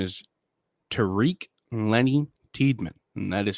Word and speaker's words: Tariq: uh his given name his full name is tariq lenny tiedman and that is spelled t-a-r-i-q could also be tarik um but it's t-a-r-i-q and then middle name